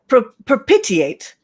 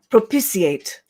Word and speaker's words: propitiate: kate we will start with you okay fantastic perpetuate oh actually it's actually pronounced propitiate thank you i love being corrected i i